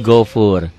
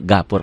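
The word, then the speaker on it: غفور: Ini yang saya katakan, tolong dirubah nih, gafurnya jadi gofur. Jadi saya mau yang saya ajarkan tulisan Arab dengan bunyi Latin harus sama. Karena kalau gini kita nggak bisa menyalahkan pemula. Bu, baca Bu. Azizun gafur. Pan tulisannya gafur tuh ya. Padahal gofur. Pakai O aja deh ya. Nggak usah ngikuti EED. Ejaan yang disempurnakan itu untuk hal lain. Untuk baca Quran, untuk baca ya, harus ini pakai O.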